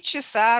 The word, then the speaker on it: часа: Часа has a stress mark over second syllable or last syllable.